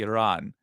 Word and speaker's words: Iran: Iran that uh uh let me say it correctly Iran uh that uh Donald